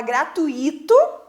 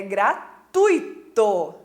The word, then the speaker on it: gratuito: um acento no i' porque a pessoa quando ela fala fala gratuito mas a pronúncia correta dessa palavra não é gratuito é gratuito né Muito bem é a